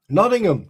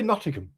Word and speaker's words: Nottingham: Noddingham. Just say Nottingham.